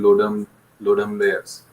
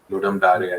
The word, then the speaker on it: Ludum Dare: Like how many people, how many game developers are taking part in Ludum Layers? Ludum Dare, I think it's pronounced.